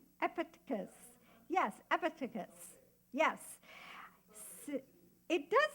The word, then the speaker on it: Epictetus: Who gave me the right pronunciation? Yeah, it was Blair. I said, did I say that right? Epictetus.